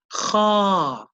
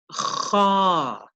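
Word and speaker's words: خ: The letter is pronounced kha, kha.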